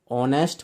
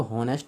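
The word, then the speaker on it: honest: कभी आप लोग सोच रहे हो एच है यहाँ पे, ऑनेस्ट बोलते हैं इसको, हॉनेस्ट नहीं बोलते, इसलिए एन आएगा।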